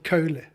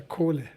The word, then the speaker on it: Kohle: Is it Kohl? Yeah, Kohl. no, it depends on, my surname gave me so much fun throughout my years working abroad. In the Netherlands, they say Kohle, Ah, okay. Meneer Kohle. Kohle. In Germany, it's Herr Kohle.